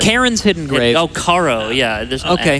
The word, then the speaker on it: Charo: Charon, Hidden Grave. I say Karen's, or like Karen's Hidden Grave. Oh, Karo, yeah.